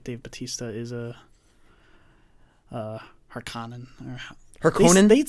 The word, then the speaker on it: Harkonnen: Right, Dave Bautista is a Harkonnen. Harkonnen? They'd say it weird. They say Harkonnen. They don't put as much emphasis on the O of Harkonnen. They say Harkonnen. Harkonnen. Different accents, I think.